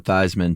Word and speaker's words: Theismann: Uh no, I was Yeah, I the story goes it was Joe Theismann and in college he changed it to Theismann to rhyme with Heisman.